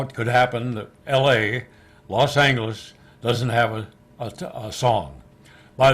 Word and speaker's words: Los Angeles: Even years later, when I worked there myself, that clock still said Los Angeles with a hard G on the clock, so you'd be sure to say it the right way.